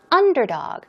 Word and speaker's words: underdog: least underdog is pronounced underdog stress goes on the first syllable let's move on to